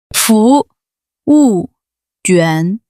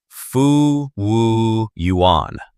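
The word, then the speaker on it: 服务员: Listen closely to the tones, everyone. 服务员. 服务员. Okay, let me try. Fu yuán. Like that? A little bit too flat. The second syllable, 物, goes down, like you're dropping something.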